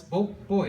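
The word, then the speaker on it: buachaill: B U A C H or H A I L L It's bo boy. It's bo and from that you can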